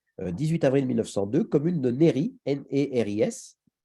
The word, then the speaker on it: Néris-les-Bains: avril 1902 commune de Néry et ris je crois qu'on le prononce pas le S les Bains les Bains